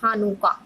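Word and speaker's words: Hanukkah: पिसाक, रोज, हशाना, योम किपोर, हानुका, it's pronunciation is हानुका, Purim, Shavuot, Sukkot and Sanchat Torah are the festivals of Jewishism।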